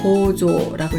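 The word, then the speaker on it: 構造: 지을 조자는 조라고 읽어서 조형하면 조ቄ, 구조하면 고조라고 읽었어요.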